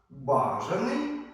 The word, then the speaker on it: бажаний: Запам'ятайте слова з подвійним наголосом. Бажаний, бажаний, беззахисний, беззахисний, зокрема, зокрема доповідач, доповідач, допоміжний допоміжний весняний.